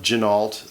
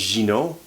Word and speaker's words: Ginault: some people call it ginal that sort of thing but I suppose that that's fine it's uh it's a regional pronunciation uh the name is French my understanding is it's pronounced Gino so I did get